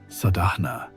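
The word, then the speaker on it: sādhana: Maya began to see her entire life as what the ancient texts call sadana pronounced sadna which means spiritual practice.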